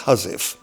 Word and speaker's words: housewife: very fine details including a thing written as housewife pronounced huziff which happens to be